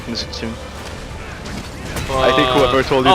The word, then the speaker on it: Mizutsune: Yeah, so Mizutsune, you should pronounce the E at the end, not Mizutsune.